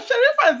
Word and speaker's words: Sherifa: how to pronounce her name I think it's sharifa let's see if I pronounced it correctly please welcome sharifa to the show Good morning yeah Shera sherifa is easy right it is I just didn't